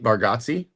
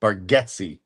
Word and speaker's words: Bargatze: But we saw Nate Bargatze, not Bargatze, Bargatze.